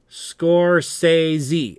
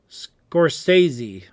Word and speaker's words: Scorsese: Well pronounced, Angela. Scorsese. Oh, thanks, Angela. Scorsese.